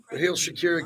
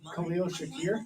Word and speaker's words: Khalil Shakir: Raheel Shakir got a contract extension. Yeah. Say his name. Say his name. Khalil Shakir?